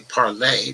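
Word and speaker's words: Parler: as telegram and parlor i guess they pronounce it parlor frenchman might actually say parlay but there's no z on the end so one proud boys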